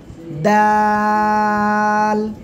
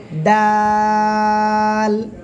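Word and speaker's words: د: নাম কি বলেন তো দাল তিন আলিফ টান হবে কোন জায়গায় থেকে উচ্চারণ করবেন জিহ্বার আগা সামনের উপরে দুই দাঁতের গোড়ায় লাগান লাগান লাগান লাগিয়ে এবার উচ্চারণ করেন দাল দাল দাল তিন আলিফ টান হবে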